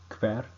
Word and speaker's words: hver: Only when H and V are consecutive, the K pronunciation becomes Q. For example, quat, which means what. Hver, which means who. Hvenær, which means when. Next, yao.